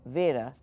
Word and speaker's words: beta: B here's the thing if you look this up you will see beta but it should be understood that this word might be pronounced like Vera it's not quite B now there are exceptions to everything like when we talk about develops but it's still not our English B it has a little